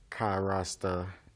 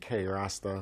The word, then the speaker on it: Kai Rasta: We was just watching a couple of selections from Kai Rasta. You know, I think I've been saying my brother's name wrong. I've been saying K Rasta for a couple of weeks.